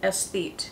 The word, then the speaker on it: aesthete: because that describes me s feet is how to pronounce it esthete we learn something new